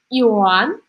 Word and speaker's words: Иоанн: и у нас есть иоанн ударение здесь у нас на последний слог и о.а.